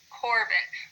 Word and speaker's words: Corbin: And you'll notice with all of them, we say the first syllable just a little bit louder. We say Keegan, not Keegan. Ava, not Ava. Corbin, we pronounce that a little bit stronger.